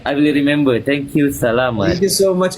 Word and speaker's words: salamat: Salamat. Salamat. Yes, that's it. Is it too short? It's too simple. Yeah, it's too simple. It's just salamat. Oh, salamat. Yes, that's how you say it.